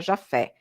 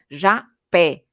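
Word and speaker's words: Japhet: verdade segundo ele consta não se pronuncia Jafé se pronuncia segundo correção do próprio Chico Xavier ja pé como com p não com f e como ele conta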